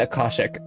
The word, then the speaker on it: Akashic: It's fucking Akashic. The emphasis is on the second A.